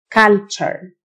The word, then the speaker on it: culture: التيو تنطق تشه culture.